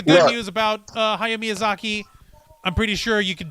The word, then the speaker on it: Miyazaki: loves uh miyazaki well you kind of have to say his last name with uh the spanish accent because the uh the some of the pronunciations in japanese and spanish are very similar yeah exactly yeah so